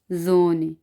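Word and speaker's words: Sonne: एस जोने, एस जोने, जोने का मतलब है सन। जब ये एस शुरू में आएगा तो एस की आवाज़ हमने जे में निकालनी है, जोने।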